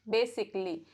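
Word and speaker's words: basically: letter silent रहता है rule number one जब ए एल एल वाई से पहले आए तो ए लेटर को प्रोनाउंस करने की जरूरत नहीं होती है तो हम इसे पढ़ते हैं बेसिकली चलो और एग्जांपल देखते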